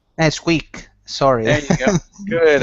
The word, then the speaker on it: Squeak: Okay, so Squeak always wore his protective gear. Skip always wore his protective gear. Good, all right. And that first word, instead of skeep, it's squeak. Squeak. Squeak.